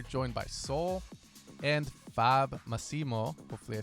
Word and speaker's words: Massimo: on the eye anymore i used to have that in the beginning and then it was masimo but now it's massimo massimo like that means strong right